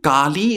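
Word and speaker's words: काली: sanskrit kali sorry kali kali is not a short e it's a long e yes but can anyone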